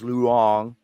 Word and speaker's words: Loong: And there's a term called Luong. It's spelled Loong, like the word long, but it's Luong, and that is the